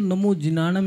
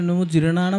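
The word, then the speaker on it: णमो जिणाणं: शुद्ध रूप से करें नमो जनानम बोलना है तो नमो जनानम ही बोले नमो जिनम नहीं बोलने आपने गलत उच्चारण किया है प्रत्येक बीजा अक्षर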